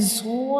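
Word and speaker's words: ظ: a bold letter, and when we pronounce bold letter, they produce heavy sound like zo, zo.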